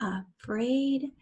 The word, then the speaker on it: afraid: Afraid, same here, afraid. That's actually a schwa sound, afraid, but we spell it with an A.